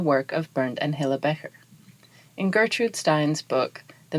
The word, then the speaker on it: Becher: However, for this production, I will refer to them as Becher, which is closest to the German pronunciation.